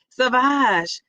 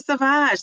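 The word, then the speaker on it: Sauvage: I want to say sausage, but with the V instead of the S. Savage, Dior Savage.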